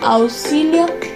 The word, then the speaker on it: auxilio: La X a menudo se pronuncia simplemente como S, especialmente ante consonantes como en experto, expert, pero también en otros contextos como en auxilio, auxilio.